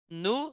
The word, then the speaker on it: nous: Nous Nous, sommes. nous Nous sommes. sommes. Ó, a gente não pronuncia o S, ó.